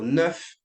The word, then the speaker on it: neuf: And then for neuf, 10, make sure you pronounce the last consonant.